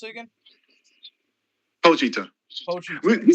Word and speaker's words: Pochita: How you pronounce it again? Pochita.